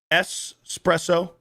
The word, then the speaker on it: espresso: Espresso. Espresso does kind of grind the gears of some people. Espresso. It is pronounced espresso.